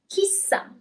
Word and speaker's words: chissà: And the solution is chissà. Here you have an accent at the end as well.